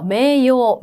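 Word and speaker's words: 名誉: 그다음에 명예요. 뭘까요? 매요. 매요. 그렇죠? 매요. 짧게 읽으셔야 되겠죠?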